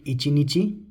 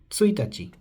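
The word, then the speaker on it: ついたち: But we don't call it ichi nichi, we will call it tsuitachi.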